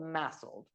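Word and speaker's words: MASLD: Napp is now called massel and I'm going to apologize in advance it's a little bit of a mouthful so musle stands for metabolic dysfunction the D is silent associated thetic liver disease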